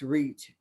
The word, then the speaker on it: RECH: educator for community hope we use the acronyms rech pronounce reach and we are in